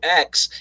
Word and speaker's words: Fuchs: My family decided, hey, it's Fuchs, but we're going to pronounce it like Fox and just fuck everybody up.